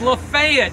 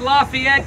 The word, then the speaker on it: Lafayette: It's Lafayette, not Lafayette County.